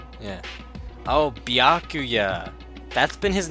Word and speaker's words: Byakuya: Bakula. It's Bakuya. Yeah. Oh, Byakuya.